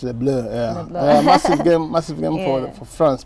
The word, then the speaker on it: Les Bleus: Yeah, the Le Bleu, massive game, pronounced Le Bleu, yeah.